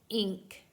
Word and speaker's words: ink: Now remember, N is always going to be pronounced N, except when it comes in front of a K sound.